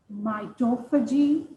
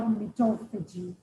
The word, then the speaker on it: mitophagy: Again, I pronounce it in two different ways. I can call it mitophagy or mitophagy.